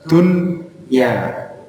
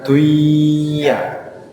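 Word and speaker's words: دنيا: menjadi izhar wajib J nunnya Justru harus dibaca jelas Dunya bukan duya kalau yang apa namanya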